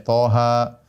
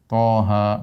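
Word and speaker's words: طه: Toha, yasin, ya. Dan ini banyak dalam Al-Quran, ya. Seperti Toha, ya. Kemudian apa? Yasin. Dibacanya bukan toh, dibacanya bukan yes atau yes, bukan.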